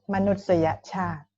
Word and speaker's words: มนุษยชาติ: So you pronounce it for Thai people right now. Human. Human, มนุษยชาติ Okay, see?